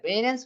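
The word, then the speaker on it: Behrens: de la casa de Peter berens así se pronuncia Peter berens otro grande del movimiento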